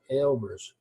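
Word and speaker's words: Aalbers: Under unfinished business, item 10.1, zoning amendment for Albers, I guess it should be pronounced, no, Albers, double A.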